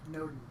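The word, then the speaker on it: Nodens: names how do want to be pronounced it's pronounced noens noens it's a Celtic God so you should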